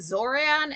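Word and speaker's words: Xoran: Um, if you see an X at the start of a name, it's pronounced like a Z.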